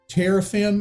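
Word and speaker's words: teraphim: her uh but it says household idols uh terraphim is how it's pronounced is the literally word uh there's a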